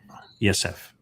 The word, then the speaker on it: Yosef: Yosef is the proper pronunciation of the second born of Noach.